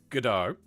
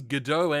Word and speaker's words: Gdau: engine or God do if you pronounce it uh properly it's gdau but it's got like a kind of a French undertone on the name I'm not actually sure